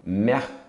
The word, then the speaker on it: Mercure: Mercúrio, mercure. Esse Uzinho é aquele U do francês também. Não pronuncia o E no final.